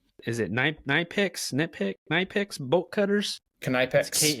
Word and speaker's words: Knipex: Knipex. Knipex. Yeah, supposedly you pronounce the K.